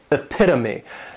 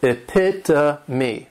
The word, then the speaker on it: epitome: And this noun has four syllables, and the stress is on that second syllable, epitome.